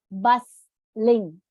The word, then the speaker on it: bustling: going to replace it with a word called bustling bustling tea is silent in the world in the pronunciation bus Ling that means it is crowd did next this